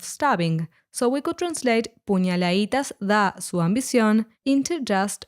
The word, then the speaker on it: puñaladitas: As in demasiado, the letter D in puñaladitas was omitted, so it's pronounced puñaladitas instead. This word is the plural